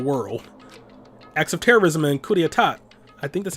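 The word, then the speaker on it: coup d'état: acts of terrorism and coup D etat I think that's how you right yeah I know the P is silent cuz I took French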